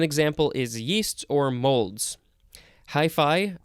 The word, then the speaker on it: hyphae: Hi-fi, I don't know if I'm pronouncing that correctly. It is spelled Hyphae. It's not like your hi-fi stereo that you had in the 70s.